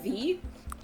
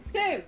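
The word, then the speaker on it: Siv: I've told him that my name isn't V because whenever I would meet somebody for the first time, I would say Civ and then I would say S I V, you know, spell it out to help them figure it out.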